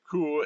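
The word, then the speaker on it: 区: The box with an X is pronounced ku, and that means a section of a large city.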